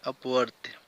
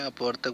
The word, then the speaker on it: अपवर्त्य: और बहुत लोग हैं जो इसको गलत प्रोनाउंस करते हैं, अपवर्तक बहुत लोग कहते हैं। मल्टीपल का हिंदी अपवर्तक नहीं होता है, अपवर्त्य होता है, ठीक।